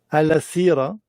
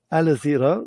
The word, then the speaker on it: Alasira: Au début, j'ai cru qu'on disait Al-Sira et ensuite, on m'a dit ça s'écrit comme avec un I, mais ça se prononce avec un Z.